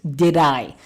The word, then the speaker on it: did: did i did i the first d is stressed the second d it comes between two vowels this is called flab d flab d you pronounce it like this did i did i did i